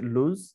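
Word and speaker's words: lose: ও রয়েছে এটা হচ্ছে লুজ। সাধারণ অনেকে এটা ভুলে লস পড়ে, বাট লস কিন্তু এটার ভুল প্রোনাউন্সিয়েশন, রাইট প্রোনাউন্সিয়েশন হচ্ছে লুজ।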